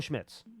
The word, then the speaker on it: Schmitz: My second point was for John Michael Schmidt Riley, or I forget how you say it. John Michael Schmitz or Jordan Riley? Yeah, John Michael Schmitz.